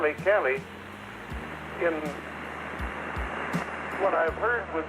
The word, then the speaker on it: Cali: You were pronouncing Cali, and I'm used to hearing it Calle. So I was kind of, perhaps in Colombia, Argentina, other countries, the pronunciation is different. That kind of threw me when you pronounced it Cali instead of Calle.